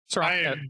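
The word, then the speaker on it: Srok: How do you pronounce it? Srock.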